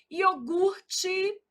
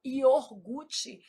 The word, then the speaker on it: iogurte: Iogurte, o R é aqui. A gente às vezes desloca esse R, fala iorgute. Isso é um erro de ortoépia.